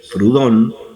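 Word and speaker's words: Proudhon: filósofos de la época, que era Pierre Joseph Prudón. Prudón, praón se escribe, que es uno de los padres filosóficos de del anarquismo.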